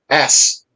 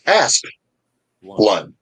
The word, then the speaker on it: Asplund: Most people don't understand that the first syllable of the last name ends on the letter P, Yes. and think that it ends on the the S. So they'll always say Asplund, but it's Asplund. Aspen land, dweller of the Aspen Grove.